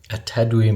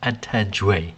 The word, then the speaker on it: Atadwe: So today I bring to you Atadwe milk, or tiger nut milk. Right after that atrocious pronunciation, I have been corrected and it is Atadwe.